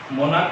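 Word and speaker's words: monarch: तो यहाँ च का उच्चारण नहीं कर रहा है, यहाँ पर क का उच्चारण कर रहा है।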